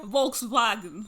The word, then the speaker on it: Volkswagen: this really nice car volkswagen yeah what was that that's the german pronunciation i've been i've been